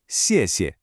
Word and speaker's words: xièxie: First up, xièxie. This means thank you. Now, pay attention to the pronunciation here. The first xiè is strong with a falling tone. The second one is super light and neutral.